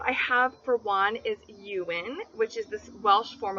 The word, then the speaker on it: Ewan: This name can also be pronounced Ion, which I think is closer to how they would pronounce it in Wales.